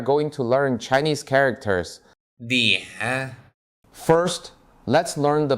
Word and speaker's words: 脸: 脸 First, let's learn the pronunciation.